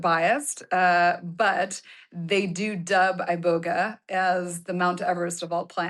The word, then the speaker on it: Iboga: Iboga. Iboga. Iboga. So the emphasis on the second syllable.